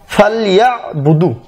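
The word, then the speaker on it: فَلْيَعْبُدُوا: তারপর ফালইয়াবুদু, এখানে ফালইয়াবুদু এবার দোয়া আছে ফালইয়াবুদু, উচ্চারণটা এই ইয়াবুদু এখানে যে আইন রয়েছে, এই যে ইয়ার পরে যে আইন রয়েছে ইয়াবুদু, এই জন্য এই অন্তস্থ আয়াকারের পর একটা এই যে টান রয়েছে, দেখুন টান, এই টানটার জন্য এই যে উচ্চারণটা যেন এরকম হয় ফালইয়াবুদু ফালইয়াবুদু, এই জন্য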